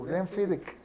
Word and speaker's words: Glenfiddich: Y le digo, el Glenfiddich, me dice, le digo, Glenfiddich. Yo le dije, el Glenfiddich, y me dijo, Glenfiddich. Le dije, Fiddick, es la pronunciación de ellos.